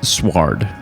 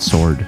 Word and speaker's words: sward: I also, though, I believe it's pronounced sward, not sword. Sword? Sward. Sword.